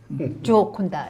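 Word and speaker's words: Gioconda: 조콘다. 예, 정확한 발음. 역시 그쪽에 계시니까 이탈리아, 뭐 스페인 쪽에 있으니까 발음이 그러시네요. 이탈리아 말이에요.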